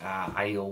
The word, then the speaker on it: Aiel: And as you may or may not be able to tell from the cover in general, we get to see the Aiel Waste.